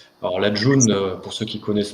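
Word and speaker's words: Ğ1: Alors la June, pour ceux qui ne connaissent pas, c'est la G1, ça se prononce June, c'est une monnaie qui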